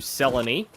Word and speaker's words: Selene: I go talk to Selene. Of course, her name rhymes with felony.